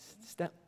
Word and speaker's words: Stämlåten: Stämlåten.